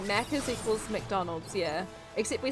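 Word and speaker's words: Maccas: Now you're remember, if you're remembering correctly, Mackers equals McDonald's. Yeah, except we spell it M A C C A S.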